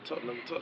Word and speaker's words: Tottenham: It's Tottenham. Did I say it right? Yeah, Tottenham.